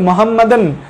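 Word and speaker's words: Mohammedan: মানে ওরা এমনভাবে লিখছে যে মোহামেডান প্রেয়ার্স পজিশন, উচ্চারণটা এভাবে হবে যে মোহাম্মদান প্রেয়ার্স পজিশন, মানে মোহাম্মদের নামাজ পড়ার যে পজিশনটা সেই পজিশনে পেশেন্ট চলে যায়।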